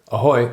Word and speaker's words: ahoy: Ahoy is how you say hello in Czech.